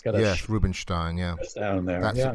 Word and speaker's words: Rubinstein: i can read russian it looks like they actually pronounced his name rubenstein it's got rubenstein yeah that's a correct